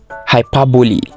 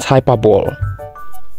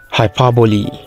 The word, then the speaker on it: hyperbole: it simply sounds like this flower this is hyperbole not hyperball it sounds like this hyperbole this is often not often it sounds like